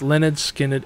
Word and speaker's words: Lynyrd Skynyrd: with these deaths it left Gary rossington as the last of the pronounced Leonard Skynyrd era lineup left in 2017 the members of